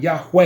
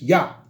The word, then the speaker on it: YHWH: But later down the line, if you should ascertain it, you'll figure out how to spell it. YHWH. All right? It's not Yahweh. It's not Yahuwah. It's just Yah.